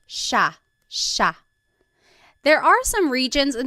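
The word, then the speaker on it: siya: It looks like it should be pronounced cia, but it's actually pronounced sha sha. There are some regions in the Philippines that might pronounce it sa but for the most part in the central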